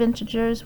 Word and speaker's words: integers: them the integers and this g is pronounced j is in jason okay into jurors not gurs j j into gers integers so here i have